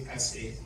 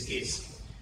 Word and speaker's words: Kase: A lot of people mispronounce the name. They say Kase, so but the way we call it is Kase. So Dr. Kase Lawal is the principal owner of Unity National Bank.